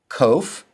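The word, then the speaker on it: ק: Kof sounds like the k in king. The kof and the cough sound alike.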